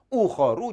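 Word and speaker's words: أُخَرُ: yaitu udul maka uhuru cara bacanya tidak boleh ditanwin sehingga baca adalah Uh oru jangan uh Harun Hai Abi atuh dua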